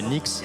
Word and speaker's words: Knicks: Alors ça, on prononce les NX de New York mais c'est ça s'écrit les Knicks.